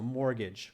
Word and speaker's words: mortgage: okay is your mortgage the T is silent don't pronounce it so mortgage okay it's a special